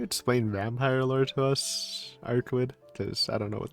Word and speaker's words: Arcueid: I am Arquid. I think that's how you say her name, but it is a weird name. My last name is really long, so Arquid is fine for now. I kind of remember it. It's like German, right?